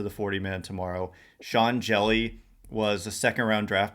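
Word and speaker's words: Hjelle: um funky and sean jelly 611 he's very tall and skinny he's like slender and his last name is jelly but it's spelled with an h and a j so he's a guy i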